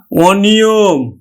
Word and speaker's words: অনিয়ম: নেতিবাচক অর্থ প্রকাশ করছে এজন্য এটিও কিন্তু আমার সংবৃত উচ্চারণ না হয়ে অর্থাৎ অটা ও এর মত উচ্চারণ না হয়ে অটা অ এর মতই উচ্চারণ হবে তাহলে অ নিয়ম অনিয়ম